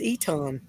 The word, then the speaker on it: Eton: It's spelled the same way here, but it's pronounced Eton.